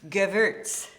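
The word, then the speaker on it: Gewürztraminer: say that word it's geverts so w is pronounced as a v Like Richard Wagner wag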